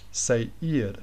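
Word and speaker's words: Seir: s-e-i-r but you might pronounce that lack um say ear CR the pronunciation say eared and that's very very similar to zaired so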